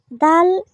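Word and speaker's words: د: দাল উচ্চারণের মাকড়াস হলো, এটাকে আমরা জিহ্বার আগা সামনের উপরের দুই দাঁতের গোড়ার সাথে লাগিয়ে এটাকে উচ্চারণ করতে হবে।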